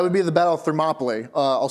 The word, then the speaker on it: Thermopylae: That would be the Battle of Thermopylae. I'll spell it for you because Greek names. It's Thermopylae.